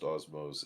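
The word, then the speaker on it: Osmow's: It is pronounced Osmos.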